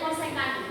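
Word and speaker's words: cosec: gini kosek kosek kosek c o s e c kosek bacanya kosekan kosek sudah ya Ini Ibu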